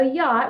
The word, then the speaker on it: yacht: Okay, so yacht, we've got a double underline arch because it is silent. We don't hear it in that word.